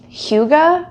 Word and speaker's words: hygge: I recently learned about hygge, I believe is how you say it. It is a Danish term, and it in